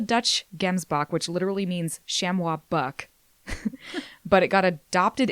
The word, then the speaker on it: chamois: of other game species the plural of shamwa uh is usually or often pronounced the exact same as the singular but it can be pronounced with the final s on the word sounded so sham can be correct even though it sounds wrong okay sh um I also